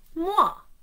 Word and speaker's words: moi: Moi, pronounced moi. That's the French word for me.